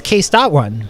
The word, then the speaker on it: Case.one: No, it's Case.one. Nope. What's dot is silent. The dot is silent? I love it. So it's Case.one and the dot is silent, everybody, right?